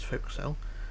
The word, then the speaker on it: forecastle: Or forecastle, as people like to pronounce it, but it's forecastle.